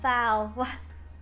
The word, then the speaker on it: Frau: Foul. What? Germans just call girls women? Okay. It's like lady or miss. Oh, foul rhymes with cow.